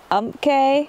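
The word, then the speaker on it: Umpqua: I don't know how to pronounce that. The one on the way in that we had video of? It's Umke. Umke, yeah.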